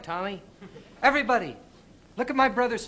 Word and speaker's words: Tommy: right but you did you could have told him it was Tommy instead of tomie I know now say